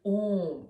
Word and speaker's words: Om: And here, anybody who studies Sanskrit, you'll know that A, U, M represent the Om, okay? So normally it's pronounced as Om, but here for the